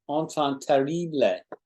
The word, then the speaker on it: enfant terrible: And we pronounce it like French, enfant terrible, enfant terrible.